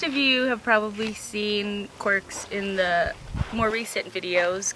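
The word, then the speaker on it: Qwerx: And he's got a lot of quirks. Maybe it's not the most creative name, but I thought it was. It's spelled Q-W-E-R-X, if anyone else is interested.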